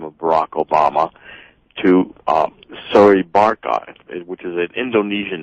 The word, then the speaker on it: Soebarkah: So it's soy. The E is strong. Soebarkah. That's how I've been taught to say it.